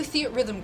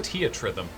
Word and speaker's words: Theatrhythm: is that house pronounced see it's rhythms rhythm like the theater yes I never do stuff like that would actually goodbye I thought it was a tea at rhythm as far as I